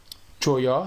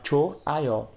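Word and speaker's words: 좋아요: Então, ao invés de a gente falar choió, a gente fala choaió, choaió.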